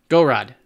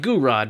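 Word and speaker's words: Gouraud: Gorod. Just call it Gorod. It not quite Goo-Rod, but Gorod is close enough. Okay.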